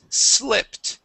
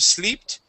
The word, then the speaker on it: slipped: This is slipped with a short I instead of sleeped.